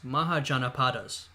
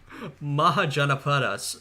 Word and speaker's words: Mahajanapadas: we have archaeological and written evidence for loose Mahajanapadas.